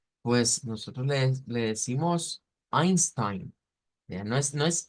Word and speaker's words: Einstein: régimen digamos nazista Pues nosotros le le decimos Einstein ya no es no es Einstein es Einstein pero su nombre se escribe con el diptongo e i de ahí